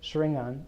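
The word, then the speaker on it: xaringan: so, I mean, so I pronounce it Shringan because can anybody provide the answer why I pronounce it that way? Yes, Naruto. Yeah, right.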